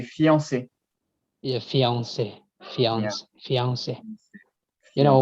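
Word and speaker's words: fiancée: male is the male so are they pronounced the same they're pronounced completely the same so the extra e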